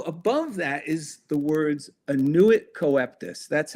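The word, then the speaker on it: annuit coeptis: So above that is the words annuit coeptus. That's how you pronounce it.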